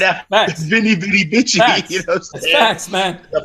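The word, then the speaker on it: veni, vidi, vici: funny thing, right after Winnie Witty Wiki, which is the correct pronunciation, but ain't nobody pronouncing it like that. We're Americans. Facts. Right after Vinny Bitty Bitchy.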